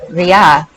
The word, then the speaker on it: rith: Also ria, meaning running, speed. And rith, pronounced ri, the th being silent, meaning a flight or race.